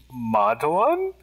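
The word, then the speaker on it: Madhavan: It's pronounced, I'm so sorry to correct you, but please correct me. Please. I want to do this right. It's Madhaven.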